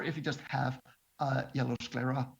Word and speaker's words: sclera: And then you also have some options with the sclera. I think I'm pronouncing that right.